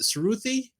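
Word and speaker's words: Sruthi: to help me but is it suruthi so s-r-u-t-h-i through the I hope I said that yeah you got it yeah yes so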